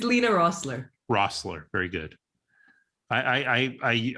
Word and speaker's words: Lina Roessler: i know i know yeah correct me it's lena rossler rossler very good i i i i did